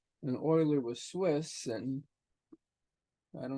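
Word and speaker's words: Euler: pronounce the T and Oiler was Swiss and I don't know how it would be pronounced in swis French or German but it's always pronounced Oiler and so this is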